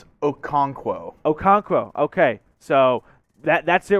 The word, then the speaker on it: Okonkwo: Okuwanuku.